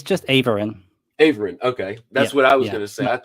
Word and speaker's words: Aeveryn: your last name the right way will you pronounce it oh it's just Ain Ain okay that's what I was gonna say